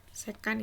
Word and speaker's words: sekan: Sekan ini bacanya, sekan.